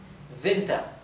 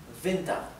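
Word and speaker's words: Winter: que terminan con er la r final también es casi imperceptible y la e tiende a sonar un poco más parecido a una a por ejemplo soma soma venta venta bien y esto es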